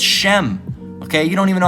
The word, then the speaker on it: Shem: people where the people you can't even pronounce you know uh uh Shem correctly you say sem all right it's Shem okay you don't even